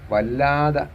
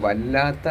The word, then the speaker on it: വല്ലാത്ത: മുകളിലൂടെ ഏറ്റവും ഉയരത്തിൽ പറക്കുമ്പോൾ വല്ലാത എന്ന് കിടക്കുന്ന കണ്ട വാക്ക് അപ്പോൾ വല്ലാത്ത എന് എന്ന് വായിക്കണം.